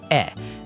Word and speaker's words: e: For E, you're going for what we call a closed sound. Your mouth stays pretty relaxed, almost like you're holding a little gentle smile.